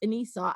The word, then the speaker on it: Anissa: my own personal choice so if you if you actually pronounced it the way my mother had intended that it would be a very um ethnic name to say the least but because it's because it's like just pronounced anisa and then i won't